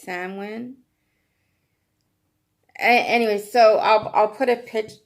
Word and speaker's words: Samhain: Samhain, but you never pronounce it like that. It's Samhain.